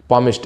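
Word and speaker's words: palmist: पामिश्ड इसमें L silent रहता है।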